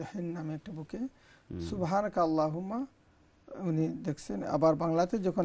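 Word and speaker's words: سُبْحَانَكَ اللَّهُمَّ: তাজবিদের rule হিসাবে এখানে আল্লাহুম্মার হামজা যেটা, এটা কিন্তু পড়তে হয় না, কাফ লামের সঙ্গে জয়েন্ট হয়ে সুবহানাকাল্লাহুম্মা রব্বানা ওয়া বিহামদিকা আল্লাহুম্মা ফিল্লি পড়লে তাজউদের রুলকে ফলো করা হলো।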